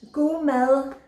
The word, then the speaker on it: god mad: god mad letters leo it actually means go mel uh go is a danish word for good mel mel it's quite difficult to pronounce it you're not danish mel uh